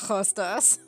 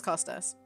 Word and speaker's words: Costas: It is Costas. Yes. Well, my full name. You know my full name. Yeah. Yeah. So it's not Hostas.